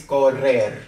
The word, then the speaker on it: correr: It's correr, okay? We roll it.